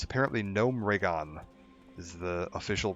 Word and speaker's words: Gnomeregan: quest chain of like retaking Echo Isles and Gnomeregan, which is apparently how it's pronounced. I hate that. I've always called it Gnomeregan, but it's apparently Gnomeregan is the official pronunciation now that I've heard